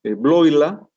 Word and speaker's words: Bleuler: Entonces, Bloila, que se escribe Bleuler, suizo, le enmendó la